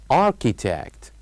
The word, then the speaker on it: architect: we say H or we write the letter H but we don't pronounce it architect so not only